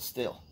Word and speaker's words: Stihl: What it kind of STIHL still. Alright. We're just gonna call it stealth. Okay? Got my stealth leaf blower. Silent T. H.